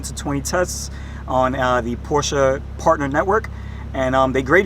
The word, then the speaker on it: Porsche: fourth Porsche vehicle right what is the proper way proper way to say Porsche Porsche Porsche is that right workshop Porsche has a little accent at the end of it you know I feel